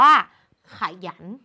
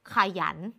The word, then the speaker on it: ขยัน: นี้ ค่ะ คำ แรก คำ นี้ อ่าน ว่า ขยัน ขยัน ขยัน เด็ก ๆ เห็น ไหม คะ ว่า คำ ว่า หยัน ซึ่ง เป็น คำ ที่ อยู่ ด้าน หลัง เนี่ย เรา จะ ออก เสียง เหมือน หอ นำ แต่ ใน การ เขียน